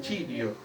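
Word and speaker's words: χρίω: Dice la palabra griega del Nuevo Testamento, ungir, es chirio, se pronuncia así chirio, que significa untar o frotar.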